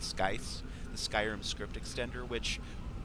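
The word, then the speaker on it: SKSE: folks who uh developed sky or SKS E I always pronounce it sky the Skyrim script extender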